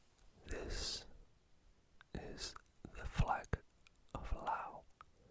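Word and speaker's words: Laos: information that's Vietnam this is the flag of Lao l-a-o-s Lao pretty simple just some colorful stripes with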